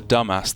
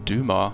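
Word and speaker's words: Dumas: to game five I believe it was a dumbass that once wrote on what Slender threads do life and Fortune hang what's that it's pronounced Dumar well then why is it spelled whatever the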